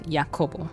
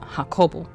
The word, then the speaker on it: Jacopo: said if he said if jakoba is Italian then I'm pretty sure that should be a soft J not the Spanish yah and the pronunciation of his name is yakobo like that's the official pronunciation and before when we